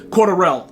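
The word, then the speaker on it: Cordarrelle: you know like uh Cordell Patterson cordurelle uh correction that's how you say his name I'm gonna show you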